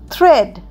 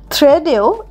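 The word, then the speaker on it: thread: Next T এইচ আর ই এডি থ্রেড। থ্রেডেও এ উচ্চারণ হচ্ছে না।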